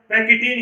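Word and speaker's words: pachytene: इसे क्या बोलते हैं, पैकेटिन बोलते हैं। क्या बोलते हैं? पैकेटिन। तो आपको बिल्कुल ये याद रखना है कि इसका जो सही कन्वर्सेशन है वो क्या होता है, पैकेटिन ही होता है।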